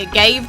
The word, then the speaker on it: agave: So, a good set of dragons that are really good for really early are like the agave dragon, / agave if you want to say it properly.